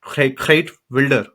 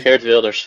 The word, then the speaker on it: Geert Wilders: Geert Wilder. That's the right pronunciation. Geert Wilders, yes.